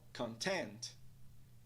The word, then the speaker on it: content: Dois sons de vogal, duas sílabas. Nós vemos um apóstrofe logo após a segunda sílaba, o que indica que ela é estressada. Pronúncia da palavra é então content, content, content.